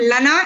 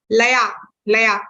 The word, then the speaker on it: laya: So whenever there is this line above N, it is pronounced as, it's not Lana, it is Laya, right?